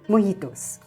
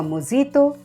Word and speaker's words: mojito: Spanish word that's spelled m-o-j-i-t-o but since in Spanish the letter J is pronounced like the letter H instead of mojito or mozito it's pronounced as mojito